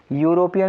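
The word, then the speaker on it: European: अब इसमें और देख लो, तो ये जो यू लिखा हुआ है EU, इसको आप प्रोनाउंस कैसा कर रहे हैं?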